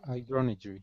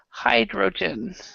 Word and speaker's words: hydrogen: the word Su Hydro hydron Hy Hy okay this was this is actually hydrogen is how we pronounce it hydrogen hydrogen and then another